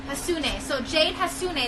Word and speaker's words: Hassoune: Hassoune. Hassoune. So Jade Hassoune. It's kind of how you spell it, right? Yeah, exactly.